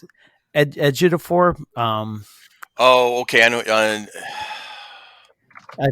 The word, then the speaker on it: Ejiofor: HBO Max, and also on HBO Max, Lockdown with Anne Hathaway and I don't want to mispronounce it. Ejiofor.